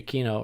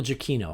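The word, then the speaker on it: Giacchino: big shout out to michael g aquino or michael jacquino i always add an extra syllable there gekino um it's italian so there's seven ways to pronounce it anyway yeah but shout out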